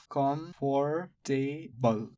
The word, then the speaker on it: comfortable: How many vowel sounds? 1 vowel sound, another vowel sound, another vowel sound, final vowel sound. So 4 vowel sounds, 4 syllabic words, number of syllable counts, 4 syllables. Comfortable.